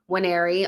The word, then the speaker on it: Nwaneri: By the way, he actually said how he pronounces his name, Nwaneri, on that Premier League video.